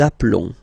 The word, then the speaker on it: appelons: Nous appelons. Okay, final S doesn't exist.